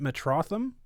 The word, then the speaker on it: Metrotham: if i'm mispronouncing it is it metrotham that's perfectly correct perfect all right that's